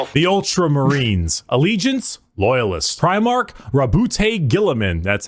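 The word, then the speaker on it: Roboute Guilliman: Rabbout Gillamin.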